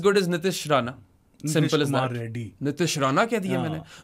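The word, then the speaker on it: Reddy: Funny तरीके से नहीं करेक्ट तरीके से प्रोनाउंस करते हैं वो कहते हैं नितीश कुमार रेड्डी रेड्डी हो रेड्डी याह।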